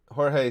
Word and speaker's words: Jorge: Jorge says, or George, I know people pronounce it both ways.